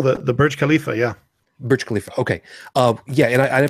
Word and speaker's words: Burj Khalifa: observation level of the and I'm gonna probably mispronounce it Burj Kalifa Kalifa oh the the Burj Kalifa yeah Burj Khalifa okay oh yeah and I pulled that up